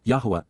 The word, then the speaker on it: Yahowah: this advice please be aware and then W Yahweh Yahweh the proper pronunciation of the name of yoah God as